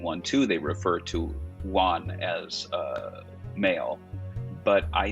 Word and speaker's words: Yuan: one you you were waiting for this one juan is that how you say her name yeah